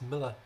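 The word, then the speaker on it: Millar: he's English John Constantine it's like Mark Miller it's Mark Miller it's not Mill somebody knows that they're saying it wrong but they keep on doing it it's Miller Miller don't know why I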